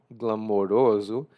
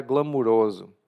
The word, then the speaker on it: glamoroso: Apesar de se escrever com o glamoroso, eu tendo a pronunciar glamoroso, porque foi assim que eu aprendi quando era criança. Mas você pode dizer das duas formas.